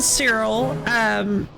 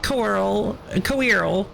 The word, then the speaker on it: Coeurl: I pronounce it Cyril. Boar pronounces it Coeurl.